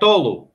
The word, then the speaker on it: Tolu: it right he says but it's correct tolo yeah you are saying it right he says tulu okay it's tolo will you be able